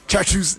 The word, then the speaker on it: Caksus: I am not percent me pronounce according to the spelling, but I know so no kind of Caksus, in Sanskrit, the C is pronounced like cha. So Caksus.